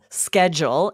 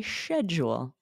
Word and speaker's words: schedule: the next one is schedule in the US with that hard C but in British English maybe you guys are aware they say sh schedule so fancy um can